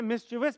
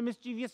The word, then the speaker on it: mischievous: सही प्रोनाउंसिएशन है मिस्चिवस। पाकिस्तान में मिस्चीवियस कहा जाता है इसको।